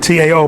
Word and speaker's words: Tao: Now that in the way, y'all have heard of Taoism, T-A-O, but it's pronounced Tao.